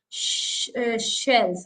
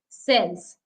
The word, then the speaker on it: sells: of Sho and here in cells we don't have sh so so don't pronounce it as shells it is cells she says this cell